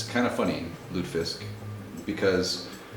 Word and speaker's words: lutefisk: So, well, I don't know, people spell it differently. Lutefisk. It's not Lutefisk, Lutefisk. So, we're going to make Mrs.